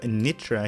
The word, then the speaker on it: Nitra: And thanks to one of my subscribers, Milan, who told me the correct pronunciation of Nitra here.